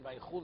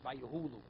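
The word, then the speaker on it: ויכולו: Person can't pronounce a ches. And instead of saying Vayechulu, he says Vayehulu.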